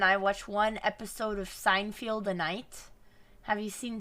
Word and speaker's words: Seinfeld: happy with your pronunciation how is it pronounced seinfeld seinfeld is there not is